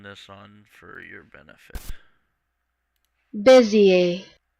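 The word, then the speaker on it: Bézier: how to pronounce bezier buzzier um here we go oh my earphones are off I'll turn this on for your benefit busier busier oh so it's French or something like that um so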